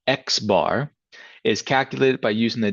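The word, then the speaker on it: x̄: The sample mean, denoted by X bar, so it's going to be a capital X with a line above it, pronounced X bar, is calculated by using the data values in the sample that you have.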